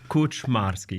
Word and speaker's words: Kuczmarski: It's Kuczmarski.